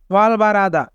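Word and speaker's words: 활발하다: ওয়াল বারাদা মানে চঞ্চল এখানে রিউল বাচ্চিমের পরে হিউ থাকার কারণে রিউল বাচ্চিমটি হিউতের স্থানে যাবে তাই উচ্চারণ হবে ওয়াল বারাদা ওয়াল বারাদা মানে চঞ্চল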